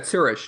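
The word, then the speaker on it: Zürich: URI is that correct the city am I pronouncing the city name yeah yeah sirish in Switzerland zish and never returned the thing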